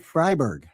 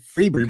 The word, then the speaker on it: Freiberg: So David Freiberg. Oh, I said David Freeberg.